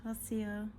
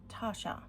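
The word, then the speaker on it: Taccia: It has a medium nib and is inked with Tassia. Oh, it's not Tassia. Sorry, Lau. It is Tasha. I think that's the correct pronunciation.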